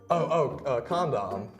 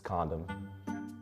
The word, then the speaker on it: condom: Condom. Yeah, you're saying it wrong. It's condom. Oh, that's what I said. Condom. No, you're putting too much emphasis on the second syllable. It's just condom.